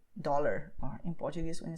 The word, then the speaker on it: dólar: You have to pay attention to what you do in English when you say dollar, or in Portuguese when you say dollar. What you do is when you pronounce the letter D, your tongue is doing all the work, okay?